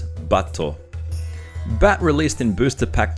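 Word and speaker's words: バット: The card we're looking at this time is Bat, or as is pronounced in Japanese, Batto.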